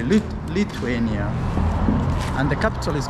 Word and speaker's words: Lithuania: locked welcome welcome to can you pronounce the name lithuania lithiania lithuania lithuania it's actually lithuania and the capital is